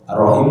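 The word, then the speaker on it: الرحيم: Sebagai contoh, membaca "Bismillahi" dengan 'lam' yang panjang, "Ar-Rahman" dengan ' mim' yang panjang, dan "Ar-Rahim" dengan 'ha' yang panjang.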